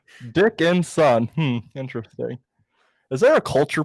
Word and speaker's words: Dickinson: Can you slow that down by syllable for me? Dickinson. Dick and son.